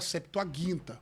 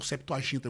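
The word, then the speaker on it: Septuaginta: Uma coisa, linguisticamente falando, é nós pegarmos a septoaginta ou septoaginta, como ele pronunciou. Eu falo guinta porque o G é duro.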